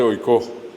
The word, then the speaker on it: oikó: Acá tienen ustedes oikó. Acá dice oikó. Acá el acento está en la O.